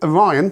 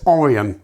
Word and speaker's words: Orion: Don't know why they did that with Orion, because apparently, I've always called it Orion, because that's how it's spelled, but actually it's Orion.